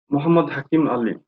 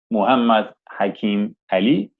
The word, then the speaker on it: Muhammad Hakim Ali: Hakim, how to pronounce MD? Muhammad Hakim Ali. MD. Okay, Muhammad Hakim Ali.